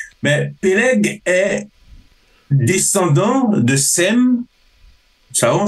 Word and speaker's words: Sem: PG est descendant de Sem çaon SEM le fils de Noé ou plutôt plutôt pron Chem c'est plutôt Chem Chem ah il m SEM mais c'est Chem ah ok donc avec H voilà qui veut dire le